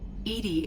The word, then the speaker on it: EDI: why are you named edie edie is the phonetic pronunciation of edi that is an acronym for enhanced defense intelligence what do you do